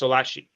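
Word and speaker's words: Schlaillace: and his last name it's pronounced differently than it looks so his last name is spelled s-c-h l a i-l-l-a-c e okay great and it's pronounced solachi okay great all right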